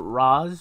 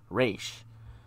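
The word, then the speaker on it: Ra's: or raz al ghul i prefer roz but i think i hear people say it's supposed to be pronounced race but whatever whatever as you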